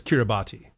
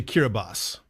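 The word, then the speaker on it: Kiribati: you think think that's cbati but it's actually kirbas and the reason that it's that is because that TI at the end they took the French pronunciation of that and that's their orthography my old enem is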